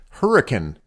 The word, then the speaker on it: Hurricane: George area the name hurricane is actually pronounced hurricane let me explain a